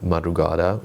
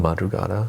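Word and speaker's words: Madrugada: Y uh which is a Norwegian band, Madugada. Is that how you really call them? Madugata. Oh my god, I've been pronouncing that.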